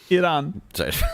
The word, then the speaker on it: Iran: mat like a basketball but it's pronounced Iran yes Iran Ariana Grande is Italian-American